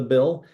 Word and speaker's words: Bil: My grandfather was my pastor in the Bill, but a university professor refused to call a grown man Billy. So in response, I dropped the second syllable of and kept the Bill, the BIL.